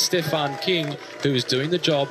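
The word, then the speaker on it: Küng: of it n so as English speakers you are drawn to saying Kung he says himself it's pronounced King which makes it easier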